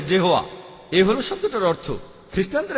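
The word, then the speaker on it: Jehovah: আর উচ্চারণ করার সময় তারা সামনে একটা জে লাগায়, আর এটা হয়ে যায় জেহোয়া।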